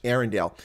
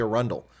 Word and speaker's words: Arundel: noticed i pronounced that correctly for the english arendelle but that is the incorrect pronunciation here in america we fixed that it's actually a rundle a rundle cast but the reason i say